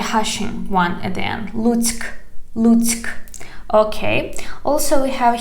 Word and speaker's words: Lutsk: We have K at the end of this word. Pay attention. Lutsk. Lutsk. Lutsk. But perhaps it sounds like because it sounds like a hashing one at the end. Lutsk.